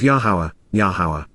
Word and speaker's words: Yahowah: ongoing basis, because, truly, the mouth, pay, of Yahowah. The proper pronunciation of the name of Yahowah, our Eloah, God as directed in his Torah,